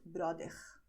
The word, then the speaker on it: bróder: Okay, and there they pronounce it brother.